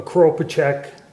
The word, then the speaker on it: Kropatschek: a model 1886 Portuguese some people call it a crow project but it's a I pronounce it carpaccio rifle basically the guy